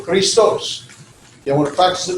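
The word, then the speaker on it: Χριστός: The ST, the sigma tau, can be said together, stos. So they're not separated. The X, or the key and the rho, the XR, Kri, one syllable, and stos. So Christos.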